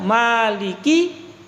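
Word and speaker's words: مالك: ini di surah al-fatihah kalimatnya Maliki yaumiddin kan mimnya dibaca panjang nah Kenapa dibaca panjang tapi tidak ada Alif kalau kita belum hafal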